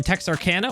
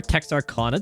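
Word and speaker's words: Texarkana: are sat here in Texarcana or Tex Arana depending on how you like to pronounce it and we're heading down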